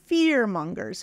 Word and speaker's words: fearmongers: hold on fearers exactly fearmongers fear mongers that's got primary and secondary stress fear mongers fearmongers fearmongers yeah exactly